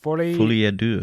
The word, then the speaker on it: Folie à Deux: look at the Lady Gaga in Joker for Folie à Deux. Folie à Deux, that's it. Thank you. I don't know how to pronounce French words.